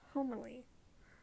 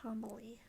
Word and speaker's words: Homily: of the little people i always thought it was pronounced humbly like uh homily here where i live is dried corn kernels so for years i experiment her name homily instead of homily then i realized my